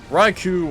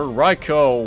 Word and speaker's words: Raikou: his shadow pokemon is raikou or riko whichever pronunciat whichever pronunciation you want to call it by it's a shao pokemon